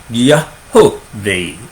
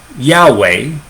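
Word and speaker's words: יהוה: Yahovah is what is really how you should pronounce it.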